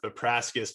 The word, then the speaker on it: Vepraskas: our guest on today rebecca vipraskus rebecca how are you nice job on the pronunciation i'm awesome how are